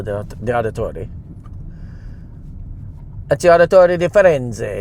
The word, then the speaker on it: Firenze: Ezio Auditore di Firenze. It's how I know how to pronounce the name of my ship that we're going on for Carnival.